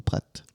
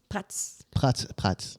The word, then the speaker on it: Prats: Prats on dit ou Pratt? Prats. Oui, on prononce toutes les lettres.